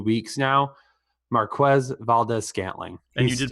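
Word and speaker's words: Marquez Valdes-Scantling: Marquez Valdez-Scantling. And you did pronounce it right.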